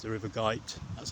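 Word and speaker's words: Goyt: woodl Redbury and Rumley before crossing the river Gite it's not a river that's in a g it's the river Gite that's how you pronounced G because prob the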